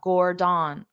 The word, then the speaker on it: Gordon: So notice that ON at the end of his name is pronounced as in, but it's unstressed. So you have to pronounce the gore louder and longer, and then the din very fast.